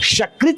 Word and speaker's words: शकृत: शकृत कहेंगे तो शकृत माने ये मल, गंदगी। और सकृत कहेंगे तो एक।